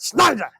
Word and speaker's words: Schneider: Well, but if you know the German way, German's always EI. So. And you have to say it Schneider. You have to say it like you're mad like at something.